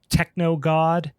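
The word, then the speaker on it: TKNOGD: So obviously if you like kind of phonetically try to sound that out without um all the letters there. It's techno god.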